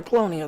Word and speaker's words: Colonia: we've got the colony colonia yeah colonia that's how it's pronounced colonial way out here